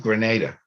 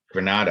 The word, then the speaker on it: Granada: the vizer to the king of Grenada Granada actually as it's pronounced in Spain and he was a